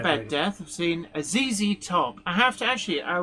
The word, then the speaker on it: ZZ Top: She used to call them Zed Top and it was like, "No, I I'm sorry. I know how to pronounce Zed properly, but the group is called ZZ Top."